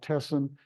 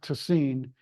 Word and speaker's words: Tessin: us who aren't linguists often might call it tessin it's t SS i n but it's pronounced toine because the Italians would pronounce it tacino TI